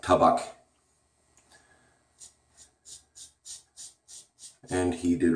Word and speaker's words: Tabak: Incidentally, Douglas, if you ever watch this, it's pronounced Tabak.